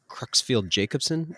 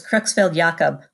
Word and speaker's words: Creutzfeldt-Jakob: So like how long of a period of time does somebody sit with something like, you know, is it Creutzfeldt-Jacobson? Is that how you say it? Close. Creutzfeldt-Jacob.